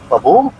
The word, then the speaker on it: Pabbi: And I'm saying Babi. Generally in the Pashto pronunciation, we call it Babu.